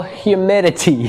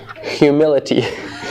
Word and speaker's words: humidity: Working environmental humidity from 10 to 90%. You know, for me it's hard to pronounce this because I always pronounce humidity as humility. So I have to correct myself. Humidity.